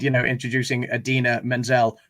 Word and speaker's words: Idina Menzel: said you know introducing idina menzel pronounced exactly as it is spelt which is a jibe